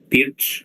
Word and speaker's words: Pirc: One is the older kind of system, the Pirc or Pirch, I think it's the correct pronunciation, where usually black plays g6, bishop g7, kind of a dragon-like setup.